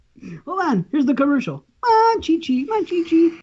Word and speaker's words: Monchichi: Manchichi. Moshishi. Manchichi. The C's are cha.